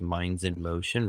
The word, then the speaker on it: mindzenmotion: The reason it's Minds in Motion, really what this is Zen means calm. So it's calming the mind so you can get into real action.